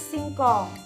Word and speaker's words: singkong: Kita tulis singkong. S I, si. Si, N sama G bacanya eng. Si sama eng, sing. K, O, ko. Sekarang N sama G bacanya eng. Ko sama eng, kong.